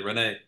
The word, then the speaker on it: Renee: um and I am I pronouncing your name correctly Renee yes that's correct yeah um so so